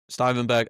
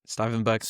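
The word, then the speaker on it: Stuivenberg: something Arteta, Albert Stuyvenberg, I never say his name right, Stuyvenberg, I think Stoiberg, I believe. Yeah, yeah. It took me a long time to nail that.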